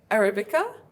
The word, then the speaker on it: Arabica: What's the difference between Arabica? Did I pronounce it right?